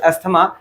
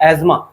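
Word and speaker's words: asthma: हम लोग normally common भाषा में इसको अस्थमा बोल देते हैं, लेकिन एक्चुअली में इसका प्रोनाउंसिएशन क्या है, एजमा, ठीक है।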